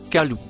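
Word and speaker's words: قالوا: Le mot écrit en couleur marron se prononce kalou.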